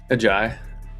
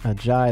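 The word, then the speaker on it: Ajayi: A Jai. A Jai.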